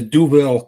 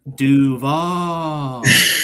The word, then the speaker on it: Duval: Moving over here to Duville County. I'm not going to say that. No, no, no, no, no, no, no. You said it wrong. Go ahead. Duval.